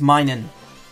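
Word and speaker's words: Minun: yes I know I pronounce it wrong it's minin that's just a whole that's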